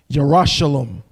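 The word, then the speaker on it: Yerushalayim: at the word jerusalem it's not jerusalem jerusalem because it comes from shalom if i'm not mistaken it's pronounced yerushalam you're a shalom okay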